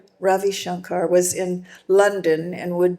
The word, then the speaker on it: Ravi Shankar: We heard that Rav Ravi Shankar, how do you pronounce his name? Ravi Shankar? Yep. Ravi Shankar was in London and would be giving a concert at the Alumni Hall on Sunday, March 30th.